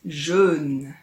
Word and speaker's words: jeûne: Ce sont deux mots qui se ressemblent beaucoup, mais le jeûne dont on va parler aujourd'hui se prononce un peu différemment. Écoute, on dit jeûne.